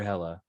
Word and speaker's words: Hella: Is it Healer or Hella? I'm sorry, Undershed. Hella. Hella. Yeah. Okay, perfect. Okay, good. Hella, just like the character from Thor 2.